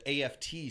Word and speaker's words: aft: altitude requested Cooper asks muklao to lower the AFT stairs why was muklao apprehensive to open the stairs I think it's pronounced aft is it just upstairs yeah that's